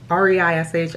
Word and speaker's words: Reish: I keep pronouncing his name wrong. R-E-I-S-H, I think it's Reish, here in New York City.